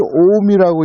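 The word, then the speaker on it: 近江: 그 근강을 오미라고 읽는다고? 이거는 제가 일본어를 하는 입장에서 처음 보는 거였거든요. 강을 미라고 읽는다고?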